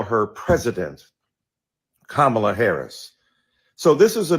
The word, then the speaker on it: Kamala: be respectful to the Congresswoman who insisted upon mispronouncing Kamala Harris. Do you call Melania? Do you call Ivanka? Then call Kamala.